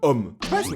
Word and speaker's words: homme: et tellement bâtard HME ça s'écrit avec un H mais qui ne se prononce même pas dès le début on